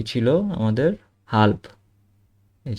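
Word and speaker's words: halb: হাল্প, এটার উচ্চারণটা কি ছিল আমাদের? হাল্প।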